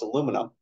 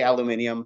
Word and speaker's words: aluminium: It's the exact same thing, though. They just have an extra syllable in it on the British periodic table.